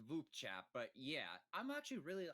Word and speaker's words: VupeChat: It's only my second time using Bupe Chat. Well, I believe it's pronounced V chat, but yeah, I'm actually really I really like this platform, too.